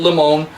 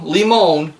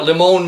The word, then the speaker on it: Liemohn: hadn't spoken and um I had a 50/50 shot as to how to pronounce his name and of course pronounced it incorrectly so from this point forward obviously I'll know um but it is Tom leemon at leemon manufacturing now let's get back